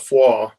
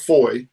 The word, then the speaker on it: Foy: uh on the edge of the town of foie not foy but foie ah yeah that's the actual pronunciation of it all americans call it foy